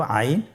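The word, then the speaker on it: عين: এর মধ্যে একটি হরফ হল আইন। আইন হরফটি উচ্চারণের সময় অবশ্যই তিন আলিফ টেনে পড়তে হবে। এখন আইন হরফটি বারিক হরফ। পাতলা করে পড়তে হবে।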